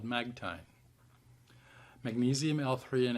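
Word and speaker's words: Magtein: of magnesium is patented and now produced by magtine science magtine is spelled m-a-g-t-e-i-n magtine science several supplement companies sell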